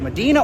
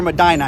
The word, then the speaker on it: Medina: Today I'm here in either, they pronounce it Medina or Medina. I've heard it pronounced both ways.